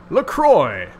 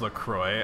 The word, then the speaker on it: LaCroix: I think it's pronounced LaCroix. I'm tempted to pronounce it LaCroix because French, but I think it's actually supposed to be pronounced LaCroix.